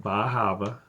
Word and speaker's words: Bar Harbor: It is pronounced Bar Harbor.